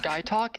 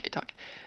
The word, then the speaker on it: Gaitok: Guy Talk is a character from White Lotus. What? Are you saying to me? Guy Talk, The fuck is guy talk? not Gay Talk. It's spelled Gaitok, and it is shoot, where is that?